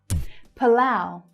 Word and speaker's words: Palau: Palau. Palau. See the unstressed syllable at the start, p, and the stronger lao as the second syllable, Palau.